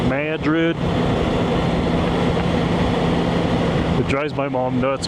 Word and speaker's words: Madrid: That's how the Texans say it. So I tend to go with what the locals call it, Madrid.